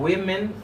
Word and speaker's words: women: it's not a woman remember you say woman for one woman and women for the fluid okay you policy moussaka